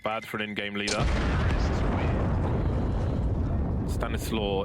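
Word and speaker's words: Stanisław: for an in-game leader Stanislaw in polish is pronounced any suave I haven't asked him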